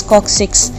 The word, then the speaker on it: coccyx: और कॉक्सिक्स, it's pronunciation is कॉक्सिक्स, इसके अंदर हमारे पास जो होती हैं 4